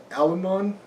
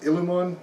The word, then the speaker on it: Illumon: is a book called alimon I think that sounds pronounced illumon um i-l-l-u-m-o-n hopefully that's correct um so illumon seven